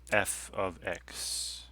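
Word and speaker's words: f(x): f of x right this is pronounced f of x not f times x even though i know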